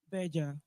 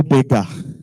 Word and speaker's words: Berger: Berger. So I'll ask, was she correct? She's. Please a round of applause for her. Hey, Berger. It is no beggar.